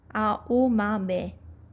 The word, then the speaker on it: Aomame: for green peas, and pronounced with the same 4 syllables, Aomame.